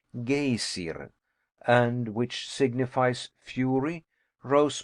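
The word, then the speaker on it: Geysir: high above the waters the geyser aboard the Iceland is pronounced gay siren and which signifies Fury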